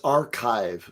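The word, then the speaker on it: arXiv: Which is the which is the Greek letter Kai, which is pronounced like K.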